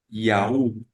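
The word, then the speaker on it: yaourt: dice en español yogur en francés se escribe parecido y se pronuncia yaú yaú entendiendo que no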